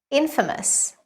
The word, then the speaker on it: infamous: you know how to say it it is Infamous well known for something bad the dictator was